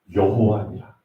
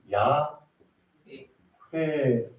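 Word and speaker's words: 야훼: 모세에게 나타나서는 하나님이 자기의 이름을 정확하게 알려주 나는 여호와니라 근데 여호와가 금 말 로 지금 여호와 이게 세 글자 아아 이게 이제 미국식 발음을 따라가다 보니까 여호와 럼 불리게 됐는데 우리나라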